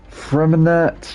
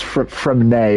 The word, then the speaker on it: Freminet: Freminette, yeah. Of course, a limited time event. Of course. Or it's Fremne, isn't it, or something? You don't actually pronounce the T.